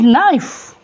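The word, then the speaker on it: knife: मिसाल के तौर पर दे डू नॉट प्रोनाउंस के के एन आई एफ ई दे से इट नाइफ के नहीं साउंड हो दे से नॉलेज के साउंड ही नहीं होता ट समझते हैं बात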